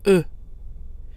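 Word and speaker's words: œufs: which is pronounced o notice that the final consonants in the French word for eggs F and s are silent which gives us the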